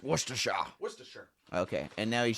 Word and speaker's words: Worcestershire: So it's pronounced Worcestershire.